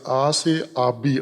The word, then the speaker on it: آسیاب: وہ پتھر گھومتا ہوا، آبی آس یا آس آبی اصل اس کا تلفظ ہے، آس آبی یعنی پانی